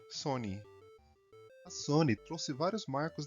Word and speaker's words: Sony: Para a pronúncia japonesa não ficar son, pois esse somia remeter a palavra em japonês para perda, algo não lucrativo, deixar apenas com um N, Sony.